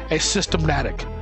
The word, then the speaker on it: asymptomatic: Yes, asymptomatic. Asymptomatic. Asymptomatic. Cool. A like the letter, symptom, attic. Cool.